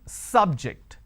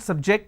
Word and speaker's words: subject: So, I say biology is an interesting subject. I am stressing on the first syllable. Okay. Now, I am using another example. Please don't subject the students to any tests. So, here my stress has moved to the second syllable.